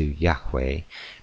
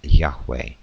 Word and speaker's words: Yahweh: In order to preserve the approximate original Hebrew of pronunciation, however, English spelling uses the initial Y, and for the third consonant uses W, a letter unknown in Latin, thus producing the form Yahweh.